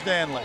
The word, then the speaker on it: Danley: I think it is Danley. They call him Daly sometimes, but it really should be Danley.